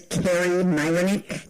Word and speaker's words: Kari Myroniuk: go on record to say my name is Carrie Myck thank you it's just fine how are you